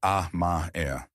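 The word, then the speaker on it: 甘え: It is called amae, pronounced ah-ma-e.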